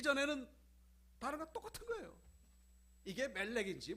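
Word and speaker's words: מֶלֶךְ: 요거는 에라고 읽고 위에 찍힌 거는 오라고 읽어요. 그래서 요거는 몰렉, 요거는 멜렉 이렇게 되는 겁니다.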